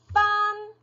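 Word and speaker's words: 分: 네, 소수점 첫 번째 자리, 角, 네, 그리고 소수점 두 번째 자리는 펀, 네, 이렇게 읽어줍니다.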